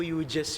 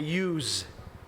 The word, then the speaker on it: Hughes: Hindi po Hughes yun. Ang pronunciation niya Hughes.